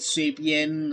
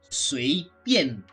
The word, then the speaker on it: 随便: They call it Swabian, or what, they pronounce it as Swabian, just like that, because they can't really pronounce proper Chinese. But the proper Chinese, to me at the very least, is 随便.